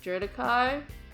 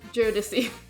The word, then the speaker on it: Jodeci: um the voice actors were pronouncing his name like judikai or jodeci that is not how you do it it's geodesy um it's i i believe it's a common name in samoan culture the the name that